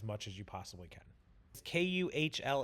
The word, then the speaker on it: Kuhl: as you possibly can Kuhl it's pronounced like cool like you're a cool guy it's German I believe someone fact